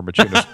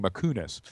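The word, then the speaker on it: Maciunas: The irony is this was premiered in Lithuania, where Machunas was from, and everybody called it with our spelling Makunas. Right. So they mispronounced it.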